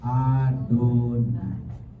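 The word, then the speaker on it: יהוה: Itulah sebabnya orang Israel setiap kali ketemu huruf YHWH mereka bacanya Adonai. Di bahasa Ibrani itu ada namanya ketaf dan ada keter. Keter itu adalah bagaimana cara membacanya, ketaf itu bagaimana tertulis. Tertulisnya YHWH, bacanya Adonai.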